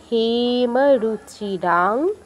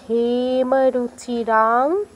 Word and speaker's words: হেমরুচিরাং: উত্তপ্ত হেমরুচিরাং রবিচন্দ্রবহ্নি। উত্তপ্ত হেমরুচিরাং, হেতে দীর্ঘ করবেন, রাতে দীর্ঘ করবেন।